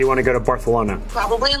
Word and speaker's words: Barcelona: to fly to Barcelona do you mean Barcelona Barcelona it's how the locals say it actually you're right um